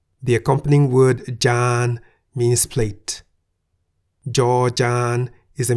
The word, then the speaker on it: จาน: Why the middle tone? Well, the single syllable in the word Jan is a live syllable because it ends with a sonorant final consonant no-nu.